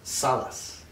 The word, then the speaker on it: Salaz: right by the way every time you say it wrong okay how do i say it right salas today i'm talking with